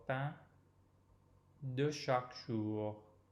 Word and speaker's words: pain: Donnez-nous aujourd'hui notre pain de chaque jour. So again, open O in notre and the same nasal vowel in pain.